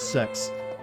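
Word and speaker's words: Sechs: Still find it weird that guy's name is Sex. Could you just imagine you have a friend named Sex, even if it's spelled S-E-C-H-S?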